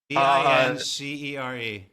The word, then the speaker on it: Vincere: Oh, spell it. V I N C E R E.